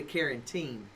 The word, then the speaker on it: carotene: See, she said beta, Jessica Lemon said beta carotene.